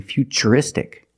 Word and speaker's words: futuristic: That's right, it's ch, because we see T-U-R-E, we pronounce the T as ch, and we see T-U-R-I in futuristic. Again, the T is pronounced with the ch sound.